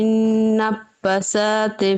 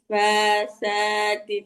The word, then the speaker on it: النفاثات: ومن شر النفسات في العقد. নাফা ফায়ে কিন্তু একটা টান আছে আপু। আবার জি পড়ুন। আপু। ومن شر النفسات في العقد. সা উচ্চারণটাও আরো পাতলা হবে। ومن شر النفاثات في العقد ومن شر النفاثات في العقد.